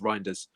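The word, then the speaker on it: Reijnders: Uh Seymour's also saying, "Rainders, if that's how I say his name, also a no-brainer to get done under 30 million." I mean, so contest. Yeah. Yeah. It's pronounced Rinders.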